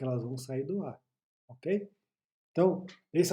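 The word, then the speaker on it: を: Tá certo que em hiragana ele é sinalizado por WO, né? O, mas se pronuncia O.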